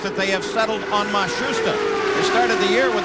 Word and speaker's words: Matsushita: Now it seems that they have settled on Matsushita.